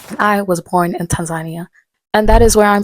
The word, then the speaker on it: Tanzania: Fun fact, I always try to correct people when they mispronounce this country because they say Tanzania and I'm like no Tanzania.